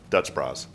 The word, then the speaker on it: Dutch Bros: You know what I like about Dutch Bros? It's not $8. You're not saying it right, though. Dutch bras. Dutch Bros. Yeah. Is that better? Yeah, that's more California.